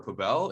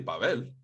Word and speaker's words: Pabel: when people be like oh is it pable or papel and i'm like i just made it up it's really pavel yeah man it's i